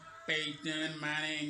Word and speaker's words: Peyton Manning: Et là, on le prononce à l'américaine. Peyton Manning, you know.